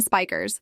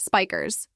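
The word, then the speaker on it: Spijkers: His first opponent, a Dutch judoka named Ben Spikers, though apparently it's pronounced Spikers.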